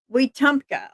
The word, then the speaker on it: Wetumpka: It's pronounced Let's see. It's Wetumpka. Okay, Wetumpka.